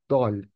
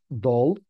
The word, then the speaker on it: dal: And in Turkish it's called dal. It's not dull. You need to pronunciate it uh softly.